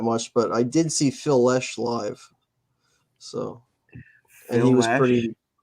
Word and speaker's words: Phil Lesh: It sounded like you're saying Phil-ish, not Lish. I don't know. My bad. Maybe you could say it. Yeah, Phil Lesh. Leash.